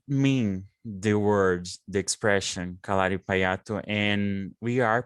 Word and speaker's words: Kalaripayattu: Yes, I think the pronunciation should be kalaripait. Kalaripait. Fight, a bit like you would say fight. So they don't really pronounce the second, the U at the end.